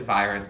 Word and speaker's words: Urias: it podemondar featuring virus it looks like virus but with an accent on the eye so i'm trying my best there okay yes continuing the